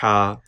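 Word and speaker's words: ح: clear and soft sound ha ha how is pronounced from throat this is the farthest part of the throat this is the middle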